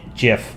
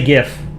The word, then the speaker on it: GIF: art I can show it's GIF with a g i pronounce it gif like the Creator I think GIF sounds stupid 31 is a funny